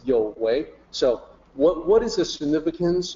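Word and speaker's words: 有為: People will look at that and just say you, but in opinion system, that's the notation for yo. So that's why I say I want to provide a guide for pronunciation. It's yo wei.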